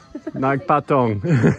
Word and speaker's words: Nagpatong: So how do you pronounce it? Nagpatong? Naga? Nagpatong. Nagpatong.